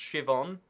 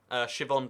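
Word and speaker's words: Siobhan: It's pronounced Shivon. Shivon Davies. I don't know why. There's a B in there, but you pronounce the B like it's a V.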